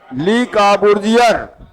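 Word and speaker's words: Le Corbusier: इसके वास्तुकार हैं ली काबूर्जियर। ये फ्रांसीसी था। अब देखिए पूछेगा चंडीगढ़ शहर का वास्तुकार कौन था, क्या बताएंगे? जब उच्चारण करिए मार साहब। ली काबूर्जियर, ये फ्रांसीसी था।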